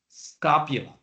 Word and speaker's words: scapula: on the left on the scapula we don't pronounce the E we said just scapula these are the shoulder blades this flat bones